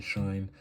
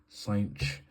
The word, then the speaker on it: cosh: Now, this term here, I've heard the pronunciation shine, I've heard the pronunciation cinch, I've heard shin, I've heard everything. I used to say shine, but then my lecturers started saying cinch, so now I just say cinch, 2 cinch of 5t plus 15t.